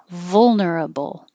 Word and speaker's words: vulnerable: and not thinking of what vowel am I making. Is it a U? Is it an E? It's just vul. Immediately, when I finish my V, my tongue goes up to the L, vul. And the same for the ending, bull, bull. You're making the noise of the L, vulnerable. And remember, for both of these, schedule and vulnerable, don't round your lips for the final L noise.